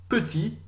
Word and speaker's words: petit: So that last letter, the penultimate letter of that word, when there's an E on the end, is pronounced when there's an E on the end. If there's no E on the end, it's silent. So listening again, petit, masculine,